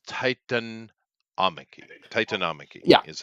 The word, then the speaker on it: Titanomachy: and just so you know, it's Titanomachy. Titanomachy Yeah, is how you that pronounce it it's correctly.